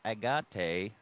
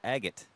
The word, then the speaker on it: Agate: went sir today South Agate just so you know it's called It's pronounced agot like an agot on the beach it's not a gate